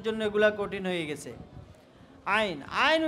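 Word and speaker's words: عين: আইন আইন। ঠিক আছে? এভাবে কি গলার মধ্যখান থেকে প্রথমে আওয়াজ বের করবে, এরপরে উচ্চারণ করবে আইন আইন।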